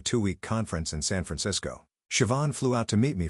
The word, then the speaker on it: Siobhan: Her name was Siobhan, pronounced Siobhan.